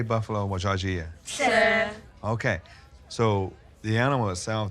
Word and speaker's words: Tseh: Sir.